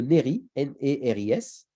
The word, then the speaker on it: Néris-les-Bains: avril 1902 commune de Néry et ris je crois qu'on le prononce pas le S les Bains les Bains